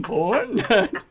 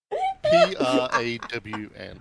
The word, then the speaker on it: prawn: more sense is that are you even saying it right PR PR yes PR PR how else would you say you got to drag the a prawn okay here we go